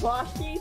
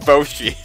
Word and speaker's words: Boshi: You mean Bashi something? Bashi! I think it's pronounced Boshi. I've never heard that pronunciation of that character before.